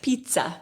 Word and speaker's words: pizza: But you actually say pizza because there's two Z's and you pronounce both.